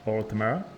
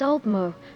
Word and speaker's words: Altmer: So, would it be right to say that Altmer is my pronunciation correct for you? I'm not quite right, my eager student. It's Altmer, to clear syllables like singing a high note followed by the rippling of water.